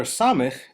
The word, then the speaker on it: samekh: The letter Samekh is to be read like the letter S in sailing.